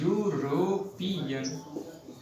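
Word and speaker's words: European: लेकिन इसका जो उच्चारण है तो हम इसका उच्चारण ऐसे करते हैं यूरोपियन, यूरोपियन।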